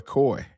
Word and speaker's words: Koi: Now, what I really hope is that this boy Coy, that's how you say his name, Coy? Yeah. Like koi fish?